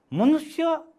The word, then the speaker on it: मनुष्य: मनुष्य यो शब्दको उच्चारण कसरी गरिन्छ हेर्नुस् त, मनुष्य। मनुष्य शब्दमा एउटा मात्रै स छ, त्यो पनि पेट चिरेको छ, तर हाम्रो उच्चारणमा चाहिँ कस्तो हुन्छ, दुईटा सको उच्चारण हुन्छ अनि यो पातलो सको उच्चारण हुन्छ।